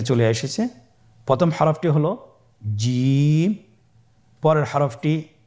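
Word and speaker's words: ج: আবার বলুন, দেখেন ঠোঁটের অবস্থান কীরূপ হবে, আপনারা একটু লক্ষ্য করুন জিম।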